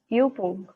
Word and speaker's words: Übung: Then we have U umlaut, which is Übung. This is U umlaut is pronounced as U.